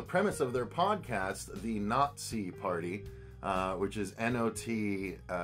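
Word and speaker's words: Not-See: basically the the premise of their podcast the nazi party uh which is n-o-t-s-e-e yeah you have to spell it out but basically the premise is justin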